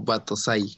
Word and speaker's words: Batosai: Aquí se pronuncia como Batosai.